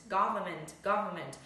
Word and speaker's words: government: Vậy từ này khi đọc như vậy ạ, go trong miệng này, government thì đọc nhanh quá, khi mà người nước ngoài người ta đọc nhanh băng đài người ta đọc nhanh ạ. Thì các bạn tưởng là nó chỉ là government, nhưng thứ đó nó không phải là government mà nó là government, được chưa?